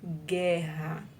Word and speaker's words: guerra: Vamos analisar aí a palavra guerra agora. A vogal U é pronunciada, portanto ocorre ditongo? Será que a vogal U está sendo pronunciada aí? Guerra. O fonema da vogal U não é pronunciado.